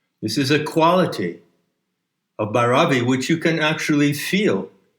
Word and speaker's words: Bhairavi: Let's return to the current shift of Bhairavi. I believe the correct pronunciation puts the accent on the first syllable. So what are the themes? What are the lessons? What are the moods of Bhairavi?